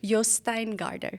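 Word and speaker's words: Jostein Gaarder: is by I just recently learned the correct pronunciation Yin Garder okay no visan writer who who wrote I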